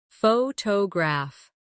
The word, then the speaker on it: photograph: Photograph. Now, photographer. Notice how the stress changes when the word becomes longer.